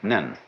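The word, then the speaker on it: 念: very interesting sign this it's pronounced in Japanese nen and the top part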